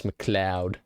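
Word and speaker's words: MacLeod: pronounce his last name let's see how he pronounce it I think he really shook up the musical industry with that the following pronunciation is it moud ah it's McLoud that's huge man that's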